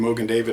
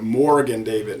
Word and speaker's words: Mogen David: bit the mogen David or most people saved mogen David and some people pronounce that Morgan David no are no are mogen David wine company